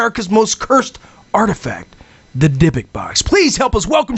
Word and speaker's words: Dibbuk: But we got it, Dibbuk. Yep, just the way it's spelled.